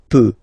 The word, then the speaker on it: peux: So je peux. Okay, final X not pronounced here. Okay, so you get X, but you don't pronounce it. So basically, you get the sound peut.